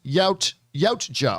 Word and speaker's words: Yautja: with their lore is the Yatuja, pronounced Yautja.